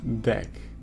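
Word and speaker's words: deque: so I can analyze a working project Becky pronounced deck okay decks were used for story memories which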